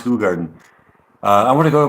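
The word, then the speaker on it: Hoegaarden: a r d n that's spelled h it's pronounced hug Garden uh I want to go but is so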